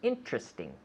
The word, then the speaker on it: interesting: now inter you usually we say this word interesting with three syllables interesting interesting interesting did he say anything